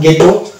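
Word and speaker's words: ghetto: এইচ যদিও আছে তাই এইচ কে আমরা বাদ দিয়ে উচ্চারণ করলেই হয়ে যাবে, যেমন গেটো, গোস্ট এবং গার্কিন।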